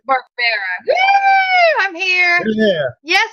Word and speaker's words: Barbera: It is pronounced Barbera, right? Barbera.